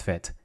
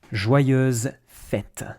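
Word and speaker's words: fête: of France roughly speaking fet fet you have a little Accent on top of the E it's useless when it comes to pronunciation it's one of those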